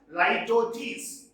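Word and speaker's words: litotes: very very very important this is pronounced as lytotes like torches what is this it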